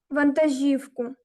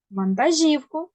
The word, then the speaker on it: вантажівку: водити вантажівку Так ану куди наголос зверни увагу на це слово вантажівку вантажівку Чудово дякую Дякую Ліна так